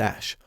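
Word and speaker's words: Æ: infamous joe rogan podcast the ae in the name is pronounced ash like ash ketchum now if you didn't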